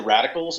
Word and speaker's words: Radikal: we're known as the radicals Lauren and I um it's ww. theer radicals. org and it's the radicals is spelled r a d i k a LS so it's a k instead of a c yeah and